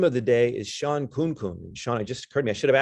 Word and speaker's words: Khunkhun: Our victim of the day is Shawn Khunkhun. Shawn, it just occurred to me, I should have asked you before we started. Is that pronouncing it right? Khunkhun, yeah, you got close.